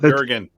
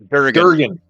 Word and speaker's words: Durgan: his name already, but Durgan. Durgan. He's telling me it smells like Durgan out I right remember now. Durgan because it rhymes with Kurgan from Highlander.